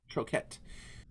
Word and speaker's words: Troquet: Benoit Troquet. Am I pronouncing that correct? Troquet.